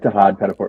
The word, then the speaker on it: Tahaad Pettiford: I'm sure am I mispronouncing that? I hope I'm getting that correct. Uh, yeah, like Tahaad Pettiford.